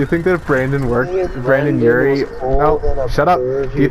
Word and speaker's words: Urie: That doesn't rhyme with Urie. Urie Nazi still ends with the E sound? Okay. No, not even close. Nazi. It's supposed to be like U-R-R-Y. Urie, Nazi, Urie, they both rhymed.